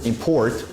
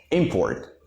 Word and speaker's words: import: Import. And the second syllable? Import. Okay? So if we say import, this is a verb. If we say import, this is a noun.